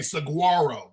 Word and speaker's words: Saguaro: When you see it, the spelling, you're gonna say saguaro, but it's the G is silent. Okay, so you warning. The G is silent, so it's saguaro.